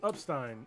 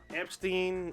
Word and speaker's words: Epstein: what the what you said up Stein yes you got all this yes either some people pronounce TEI n s Stein okay but you